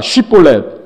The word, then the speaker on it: 쉽볼렛: 쉽볼렛. 이 SH 발음이 안 되는 거예요. SH가 그냥 SI로 발음해보면 뭐라고요? 10.